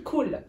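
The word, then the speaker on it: كول: Pour la femme, on coulis dit de couli. fraises qu'on met sur le cheesecake. Non, c'est couli. Ouais, c'est couli. Couli. Donc mange. Et pour un mec, on dit cool. Cool. Attends, quand tu t'adresses à une femme, tu dis couli. Quand c'est un mec, tu dis Cool.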